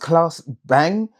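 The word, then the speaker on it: Claes Bang: um CL I think his name is pronounced Klaus Bang.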